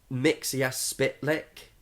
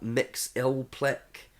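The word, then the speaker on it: Mxyzptlk: literally got written down different ways to pronounce his name because mixes spit lick is one but people also have mix ill click there's loads of relays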